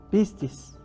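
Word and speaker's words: πίστις: qué significa fe para ti Qué entendemos la pronunciación es piscis la definición es persuasión Es decir credibilidad moralmente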